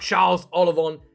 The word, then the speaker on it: Charles Ollivon: Next up, Charles Ollivon. I think is how I pronounce it in French.